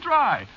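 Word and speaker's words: Drei: It's dry. drive. Oh, that's that's very funny. Oh, that's extremely funny. Oh, that's that's funny. Bartender. A bartender named Dry.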